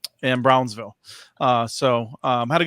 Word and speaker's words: Brownsville: so of course uh Bronzeville am I pronouncing it right Brownsville close you gotta say a little faster but yeah you're good all right uh they